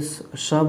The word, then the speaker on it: शब: वाला हूँ, तो तब मैम पकड़ ली कि यहाँ पे शब होगा, बोल रहे हैं कि तू ही मेरी शब है सुबह है।